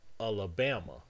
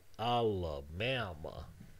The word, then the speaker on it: Alabama: You can't say Alabama. You need to say Alabama is the word.